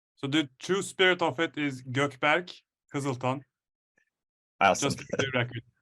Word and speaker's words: Gökberk Kiziltan: So the true spirit of it is Gökberk Kiziltan.